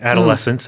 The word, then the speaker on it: adolescents: 그 뒤에다 S 하나 붙이면은 adolescents라고 해서 10대 청소년들인데 그 발음이랑 그 다음에 이제 명사 ADOLESCENT 랑 발음이 같아서 헷갈릴 수 있습니다. You're right. Adolescents, adolescents.